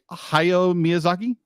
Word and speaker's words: Hayao Miyazaki: And it's so, I'll be like, I know other films have done this, but how Studio Ghibli, Hayao Miyazaki, yes, I said it right.